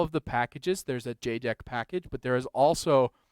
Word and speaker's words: JEDEC: No, so their JDEC is the like one of the standards bodies for electronics components, and for all of the packages there's a JDEC package, but there is also a JDEC package